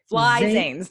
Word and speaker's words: Flizanes: Think of it phonetically. Flizanes. F-L-I Zanes. Fly Zanes. Zanes.